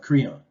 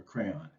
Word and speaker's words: Creon: of the king of creon or crayon actually is how that's pronounced just like the crayola writing instrument right nicely said but